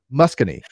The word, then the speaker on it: Muskogee: Muscogee.